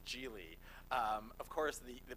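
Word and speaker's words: Gigli: out, people are like, is it Giggly? It's not Giggly. Maybe it should have been. That maybe would have been better. It's Gil.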